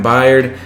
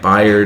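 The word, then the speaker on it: Byard: maybe we got kevin baird let me know if i'm saying that wrong i'm pretty sure that's how you say it buyer is how you pretty sure love to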